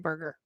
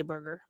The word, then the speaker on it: Berger: I love Vic Berger. Very, very good. Also, it's pronounced Berger, but I always say Burger.